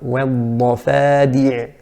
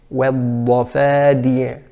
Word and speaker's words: والضفادع: So in the word والضفادع, والضفادع, that's the correct pronunciation, but it would be incorrect to say والضفا, ضفا, va is incorrect. In slang, some of us say ضفدع, ضف, while it should be ضفدع. So the fa should be pronounced as a fa rather than a V sound.